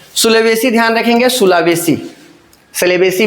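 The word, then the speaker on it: Sulawesi: सुलावेसी सेलेबेसी भी इसको बोलते हैं। सी से भी स्पेलिंग होता है सेलेबसी सेलेबेसी।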